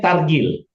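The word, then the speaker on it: תרגיל: Bacanya targil artinya latihan. Sebentar saya tul. Oke. Oke. Bacaannya adalah taf bunyi a tava tar gimel bunyi i dengan yut. Targi kemudian lamel targil.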